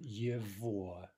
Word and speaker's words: его: From one, we get yivoa. Note the pronunciation yivoa, right? The g is pronounced like a v.